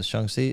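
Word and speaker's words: Shang-Chi: lead superhero movies made yeah I I love shangi or shangi I always forget the right pronunciation Chun SE like that Chun SE yeah I love that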